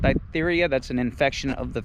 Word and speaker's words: diphtheria: uh what is that ditheria is that how you pronounce that diphtheria that's an infection of